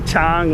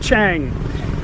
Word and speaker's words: Chang: kap, or sing or chang, whatever. It's not chang. It's spelt chang. In Thai language, Chang beer is actually named after the elephant. In Thai language, elephant is chang. Chang, not chang.